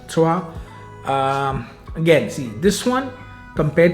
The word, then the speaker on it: Trois: T-R-O-I-S. The French pronounce it Trois.